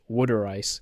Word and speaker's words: water ice: And water ice, pronounced wooder ice, in Philadelphia, is a dessert of water, sugar, and fruit brought by Italian immigrants.